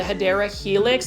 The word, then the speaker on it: Hedera helix: Now, I know we talk about the Hedera helix, or what you call the Hedera helix.